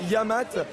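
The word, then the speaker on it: Yec'hed mat: en fait alors donc phonétiquement ça se prononce yamat et ça veut dire santé en breton donc alors il est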